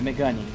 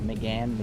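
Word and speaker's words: Mégane: Oh yes, that one, the Megane. That's how we call it in Portuguese. I don't know how to say it in English, but Megane.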